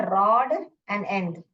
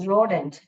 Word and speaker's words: rodent: Okay, you डोंट से इट्स रोडेंट, इट्स नॉट रॉडेंट, इट्स नॉट रॉड एंड एंड, इट्स रोडेंट।